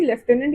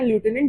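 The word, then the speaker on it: lieutenant: तो इसलिए इनको अपना मिलिट्री लेफ्टिनेंट या लूटिनेंट जिससे भी आप इसको प्रोनाउंस करते हैं वो पॉइंट किया था।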